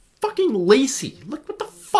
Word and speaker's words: Lisey: woman lisey yeah and it's pronounced lazy by the way too it literally has a pronunciation in the start of the book i see so many people calling it lizzy or lysey and like it's just it's it's lacy look what the [